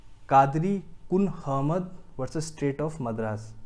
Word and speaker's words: Kunhahammad: Section clause D का ही दूसरा judgement है, कादरी कुन अहमद versus state of Madras. इसका जो नाम है थोड़ा सा मैं प्रोनाउंसिएशन आपको बता देता हूँ। कुन अहमद, KUNHAHAMMAD, कादरी कुन अहमद versus state of Madras 1960 supreme court.